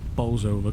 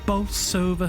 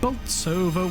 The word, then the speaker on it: Bolsover: And then this woman comes on and starts pronouncing the name of the town completely different to how the people who live there pronounce it. And there was an uproar on social media from the people that live in the town saying, if she calls it Boltsover once more time, I'm going to lose my rag.